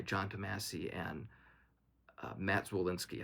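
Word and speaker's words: Zwolinski: Damassie and uh Matt Zullinsky. I always get his last name wrong, but I'm pretty sure that's right. Matt Solinsky.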